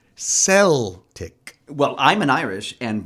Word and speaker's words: Celtic: I see Celtic no in the predominantly Irish city of Boston where the team was founded they pronounced it sell tick well I'm an Irish